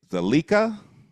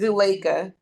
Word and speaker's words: Zuleika: Zalika, did I say it right? It's Zuleika. Zuleika.